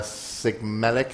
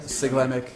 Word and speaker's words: Siglemic: So Cosmo was there, Sigmelic, I think you say his name. Siglemic, Yeah, and they basically, fuck me, man.